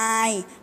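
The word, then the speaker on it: eye: ศัพท์ นะ คะ e y e ออก เสียง i แปล ว่า ตา ค่ะ ภาพ ถัด มา นะ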